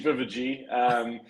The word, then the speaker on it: Wewege: It's actually Wewege. So kind of pronounced more with a V.